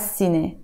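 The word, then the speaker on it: سينما: let's go Tan row I wrote here I will see nay but we will pronounce it as CNA so tan Roo has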